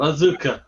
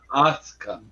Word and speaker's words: Asuka: Asuka. Not Auka. Asuka.